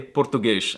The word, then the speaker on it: português: Instead, they make silly noises like pronouncing S's at the end of words as an SH sound. So they say português instead of Portuguese.